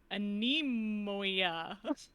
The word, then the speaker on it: anemoia: It's called anemoia. Anemoia. Spelled like an enemy, but And then anemoia.